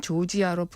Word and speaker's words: 조지아: 그루지아라고 하는 발음 자체가 러시아식 발음이라 그래요. 그거를 아예 이제 영어식 발음으로 해서 국제적으로는 조지아로 바꿔 불러달라 이렇게 여러 나라에 요청을 했고 우리는 네.